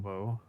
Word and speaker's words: Bo: picked is a batter, Bob Naylor, for the Cleveland It's Guardians. pronounced Bo, by the way. Oh, Bo Naylor. I don't know why I said Bob.